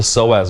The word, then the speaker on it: psoas: But the muscle that actually holds up or supports the spine is called the psoas muscle. And you look this up, it's spelled P-S-O-A-S.